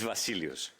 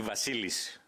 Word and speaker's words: Vasileios: It's Vasilios. But you can call me Vasilis. It's even simpler.